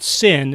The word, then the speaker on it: Cyn: So one of those is a musician called Sin. It's spelled C-Y-N.